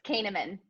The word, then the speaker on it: Koehneman: Hi there, I'm here having a virtual cuppa with the awesome Koehneman, Enterprise Account Director from LinkedIn. Did I pronounce your surname right there? Very close. It's Koehneman.